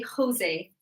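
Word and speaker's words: José: But because it's not a name in English, we pronounce it in the Spanish way.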